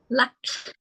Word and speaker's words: Luck: Is it Luke or Luck? How do I pronounce it? Luck. Luck. Okay, Luck.